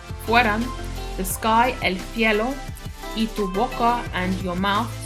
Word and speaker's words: y: the sky, el cielo, y tu boca, and your mouth. So E in Spanish, the letter Y is pronounced as the letter E in English.